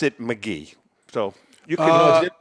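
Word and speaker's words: Magee: it and everybody it's mcgee that's the way sherry pronounced it that's interesting because mcgee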